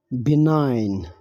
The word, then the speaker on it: benign: So without wasting any time, first word है बिनाइन। इसमें जी silent है, सो बिनाइन।